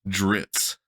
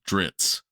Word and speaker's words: Drizzt: be settled is pronounced dritz Dr R TS is how this person is saying now his theory is the double z has the same sound as the word pizza and here's what he